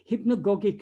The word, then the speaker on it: hypnagogic: word but i uh hypno yeah hipponogic uh hallucination i think it is how it should be pronounced i ch i checked it that is when we're